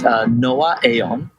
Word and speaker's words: Noaaon: So it's Noah Aon. Aon. Yeah, you got it.